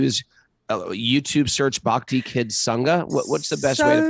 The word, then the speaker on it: Sangha: And Sangha is SANGHA. Like Sangha. Yes, because it's Mahaprana Ga. Yes, in Sanskrit.